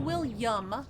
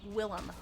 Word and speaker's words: Willem: Not William. There's no Y in that, people. It's just Willem. Be careful about that pronunciation.